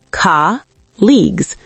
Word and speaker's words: colleagues: Colleagues. Ka-leagues. 2 syllables.